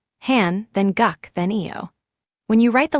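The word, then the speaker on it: 한국어: On the right is the word hangakio which means the Korean language made of three blocks read left to right. Han then guck then eio.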